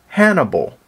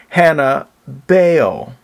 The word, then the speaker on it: Hannibal: elephant riding General named Hannibal well that's the way you would pronounce it in English The Phoenician way to pronounce his name is Hannah Bale that's right just like Jezebel's Father F ba the